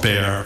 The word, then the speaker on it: Bexar: In 1981, I became chief medical examiner of Bexar County, Texas. And for the transcriber, Bexar is spelled B-E-X-A-R, the X is silent.